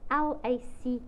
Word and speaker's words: lacquer: You spell it L-A-C-Q-U-E-R, thinners, but it sounds like the Afrikaans word lacquer.